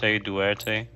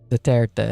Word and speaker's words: Duterte: Dude, you know Duarte? How do you say Yeah. his name? Duterte.